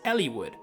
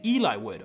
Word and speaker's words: Eliwood: a main lord but is surprisingly tricky is Elliwood. That is the way it is pronounced, but I'm sure there are people out there saying Eliwood or a Leewood.